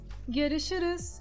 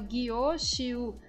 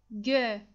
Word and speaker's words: görüşürüz: A nossa pronúncia aqui também é um pouquinho difícil por causa dos os e dos us com tremas. Temos ali também o she, que é equivalente ao x do turco. Vocês vão fazer a pronúncia aqui seguindo com a transcrição, görüşürüz, mas vão tomar muito cuidado para não marcar os is, tá? Para não falar gyo-shiu, assim é errado, não está certo.